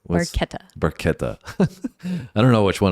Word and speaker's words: Barchetta: So we are doing red barquetta. Barquetta is the Italian pronunciation from what we understand. Although there may be some different pronunciation from Getty Lee in this one. Might be Betta, but we'll be soon to find out about that.